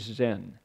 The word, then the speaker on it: Zen: it Zen zenim and Zen is the Japanese pronunciation of this word chan so people go oh